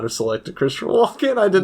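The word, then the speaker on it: Walken: are it's me Christopher Watkins Watkins is that spelled with a t Watkins uh and I also add an S it's Christopher Walkin oh my gosh I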